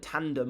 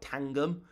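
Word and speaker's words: Tangem: Uh, Tan, uh, I always get this name wrong. It's not It's not T I call it Tandem, but it's like Tangum.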